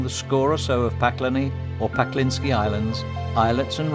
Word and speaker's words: Pakleni: their strange rugged Beauty don't let yourself be fooled by the name of the islands which sounds like the word for hell in Croatian because it really derives from the resin called Pina once used for caulking boats with the closest